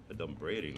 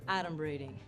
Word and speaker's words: adumbrating: Adumbrating, that's not even a word. Okay, first of all, it's pronounced adumbrating.